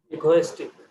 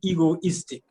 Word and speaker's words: egoistic: uh pronounce it again equalistic it's almost right it should be egoistic just like it is ego is thick egoistic ego is thick okay and meaning means being